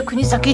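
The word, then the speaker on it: 国東: 国に上に東。国崎半島。これで国崎って読むんだって。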